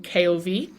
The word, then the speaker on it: Cherenkov: But there is something called, and I apologize for how I'm going to pronounce this. It's probably wrong. Cherenkov radiation. Cherenkov. It's Cherenkov.